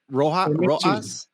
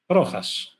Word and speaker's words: Rojas: So would it be Rohas? Rohas? Rojas. Rojas, yeah. Rojas.